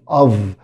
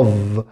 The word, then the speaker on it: of: lots of visitors lots of of، خلي بالك ان الاو اف هنا بتنطق of of، يعني الاف هنا بتنطق في.